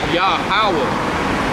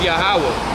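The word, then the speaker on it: Yahweh: my name this is Jehovah Hebrews pronounced yah Howard so Jehovah is his name but if that Joe is pronounced ya hawa because there's no Jason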